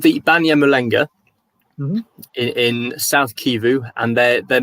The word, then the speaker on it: Banyamulenge: How would you pronounce this again? So they're called the Banyan Malanga.